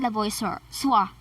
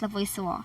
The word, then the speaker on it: Lavoisier: So the next person in our list is Antoine Lavoisier. It's actually pronounced as Lavoisier.